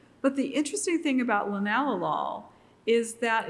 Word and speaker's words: linalool: And one of those compounds is linalool, which looks like linalool, but it's pronounced by chemists linalool.